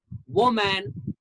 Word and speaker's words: woman: just pronounce this word many people pronounce this word as a man woman but that's not the correct pronunciation this word is woman woman